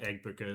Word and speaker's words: Egbuka: And then if you have Egbuka as well, that's how you say it.